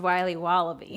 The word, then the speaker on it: Wiley Wallaby: Wally's will be wobba beats pronounced Wiley wallaby well it's very good it's called Wiley wallaby and it's delicious all